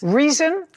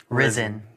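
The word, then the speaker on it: Rizin: Reason. Risen. Risen. Spell it.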